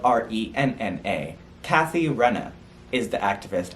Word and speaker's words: Renna: i wrote it wrong i spelled it r-e-e-n-a it's spelled r-e-n-n-a kathy renna is the activist i was referring